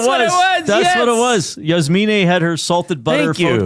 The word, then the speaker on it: Yasmine: That's the correct pronunciation of her name, by the way. Yasmine.